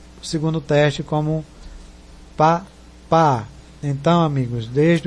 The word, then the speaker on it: Papa: O P, que antigamente em 54 era Paris, passou para Papa e permaneceu com o segundo teste como pá, pá.